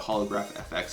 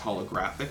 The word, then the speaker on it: HoloGrFX: a little tricky looking some people call it holograph FX it's pronounced holographics because the holographic material that they had on